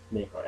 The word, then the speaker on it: Maykar: Okay, so I put a Y in front of Maykar, and wasn't available. So I put a Y in front so people know how to pronounce it.